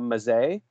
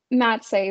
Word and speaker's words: Mazzei: guest today is mazay yes did I say it right how would you say it um mat say but honestly that's perfect way you said it how would you